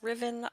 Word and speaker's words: Ruthven: this card represents Lord's Ruthven pronounced Riven from okay so I'm